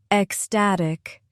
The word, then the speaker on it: ecstatic: Three syllables. Estatic. Stress in the middle. Estatic. Repeat slowly. Ecstatic.